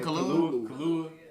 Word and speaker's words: Kaluuya: I can't pronounce his last is name. it like yeah, he was talking. How you say it? Kaluuya.